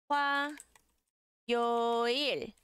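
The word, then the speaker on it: 화요일: Por exemplo, com o sonzinho de wa, nós temos o wa, wa, yo, il, wa, yo, il, wa, yo, il.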